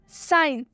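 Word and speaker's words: science: में देख सकते हैं साइंस साइंस में एस के बाद से सी आया हुआ है इसलिए साइंस में सी साइलेंट होगा तो इसका हम हिंदी में उच्चारण करेंगे साइंस साइंस का मतलब होता है विज्ञान आप देख सकते हैं इसमें एस के बाद से सी आया हुआ है जिस भी वर्ड में एस के बाद से सी आएगा तो उसमें सी साइलेंट होगा चाहे वो कोई भी वर्ड हो आगे और भी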